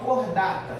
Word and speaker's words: Chordata: O nosso filo se chama cordata, se escreve chordata, né?